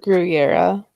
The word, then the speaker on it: Gurira: Danai gurira I I'm sorry how do you pronounce it your era okay let's have always heard of pronounced on